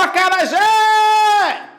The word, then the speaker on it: acarajé: eu perceba ó o acarajé o acarajé Qual é a sílaba que demora mais tempo sendo pronunciada ou acarajé percebeu já aquelas Epa o Zé é mais forte e eu começo a